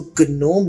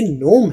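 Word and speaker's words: gnome: यहां पर आपने जी को प्रोनाउंस नहीं करना। इसको गनोम नहीं पढ़ना। ये नोम है।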